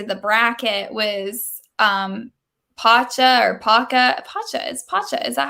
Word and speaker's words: Pacha: make it into the bracket was Pacha or Paca. Pacha. Is that how you say it? Pacha.